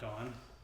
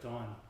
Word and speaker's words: Dawn: to spell it because they don't have the AW sound in their vernacular. So they just thought it was an O.